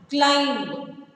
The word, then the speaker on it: climb: Fifth one, climb. C-L-I-M-B. Climb. C-L-I-M-B. Climb. So the letter B is silent.